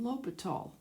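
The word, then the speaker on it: L'Hôpital: a lot of times sometimes people call them spell it l'hospital's rule but it's a French word named after a guy named lopat all of course that's what math does so what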